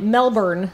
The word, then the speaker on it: Melbourne: all of the letters except most of them are silent oh so they spelled the same way that we see it on the map but they just pronounce it without notice yeah all right yes you can tell that if you're got Australian and you say it Melbourne they'll be like well